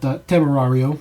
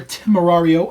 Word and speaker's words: Temerario: But Temerario, you have an accent to it. Obviously, it's a Spanish word, by the way. It's not Italian.